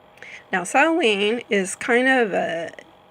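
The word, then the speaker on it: Samhain: Haan but it's pronounced sewing and let me click on something here and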